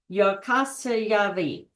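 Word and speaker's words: Jukkasjärvi: in the village of jaras jari pronounced yasavi uh try saying that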